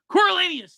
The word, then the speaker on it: Coriolanus: How do you say Coriolanus. Coriolanus. There you go.